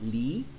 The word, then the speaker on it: Leigh: está el de arriba el Leigh que se pronuncia Lee también está el L